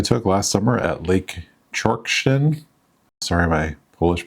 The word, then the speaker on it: Czorsztyn: Here I have some photos I took last summer at Lake Czorsztyn. Sorry my Polish pronunciation is not that good.